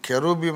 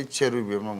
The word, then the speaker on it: cherubim: సో CH sometimes will be pronounced as K and sometimes it is cha. సో అందుకని మనోళ్ళు confuse అయ్యి కెరూబీం అనే దానికి వాళ్ళు KE రాయకుండా CHE రాసినందుకు కొంతమంది చెరూబీం మొదలుపెట్టి అదే స్టాండర్డైజ్ చేశారు.